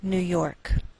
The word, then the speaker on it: New York: Note that we treat New York as one word and we place more stress on the second part, York. Again, that's Albany, New York.